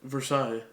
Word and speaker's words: Versailles: March on what was it Versailles how you pronounce it Versailles okay thank you so March from that place